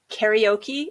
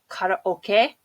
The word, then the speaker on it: karaoke: to drink its sake karaoke is not karaoke it's caught up okay so yeah this pronunciation